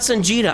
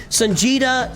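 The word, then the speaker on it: Songeta: But Sanja knows what he's talking about. It's spelled like Vegeta with a sun in front instead of a V in front.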